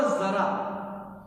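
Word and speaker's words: ज़रा: लेकिन जब इसके नीचे बिंदु लग गई तो इसका उच्चारण बदल गया। इसका उच्चारण हुआ जरा और इसका अर्थ हुआ थोड़ा, थोड़ा यानी लिटिल बिट।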